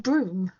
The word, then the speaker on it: Bruttenholm: the BPRD, and that's not Professor Bruttenholm. I could never say his name right, but you know, Do you know it's pronounced broom?